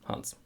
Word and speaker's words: Hans: And by the way, this German name, Hans. Especially people from the United States, they call it Hans. It's not Hans, it's Hans. Keep it short, Hans.